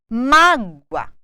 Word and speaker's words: mágoa: um de tongo crescente Olha bem mágua o o assumiu um som semelhante ao u não é mágoa mágoa mágua ouvido ou ou ou